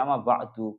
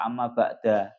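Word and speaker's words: أما بعد: Jadi amma ba'du, kenapa kok dibaca amma ba'du, kenapa kok enggak amma ba'da? Ya, itu alasannya seperti yang sudah saya sebutkan tadi. Itu maknanya amma ba'du.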